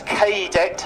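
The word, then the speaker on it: Kaydet: Now, to give it its correct name, it was known as the PT-17 Cadet, but that's K-Det, spelt with a K as opposed to the C.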